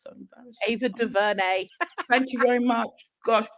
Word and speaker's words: DuVernay: One of the things that I'm really excited about is Array Ava DeRuiz. I can never say her name, it's so embarrassing. Ava DuVernay.